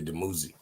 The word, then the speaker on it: Dumuzi: That's how they say it in English, but it's really Dumuzi.